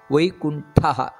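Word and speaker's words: ವೈಕುಂಠಃ: ಆ ಮಹಾಪ್ರಾಣಗಳನ್ನು ತಪ್ಪದೆ ಉಚ್ಚರಿಸಬೇಕು ಮೊದಲನೆಯದಾಗಿ ವೈಕುಂಠಹ ವೈಕುಂಠ ಅಲ್ಲ ವೈಕುಂಠ ನೋಡಿ ಅದು ವೈಕುಂಠ ಪುರುಷಃ ಅಲ್ಲೆಲ್ಲ ವಿಸರ್ಗಗಳು ಇದೆ ಅದನ್ನು ಬಿಡದೆ ಉಚ್ಚರಿಸಬೇಕು ವೈಕುಂಠ ಪುರುಷ ಪ್ರಾಣ ಪ್ರಾಣದ ಪ್ರಾಣ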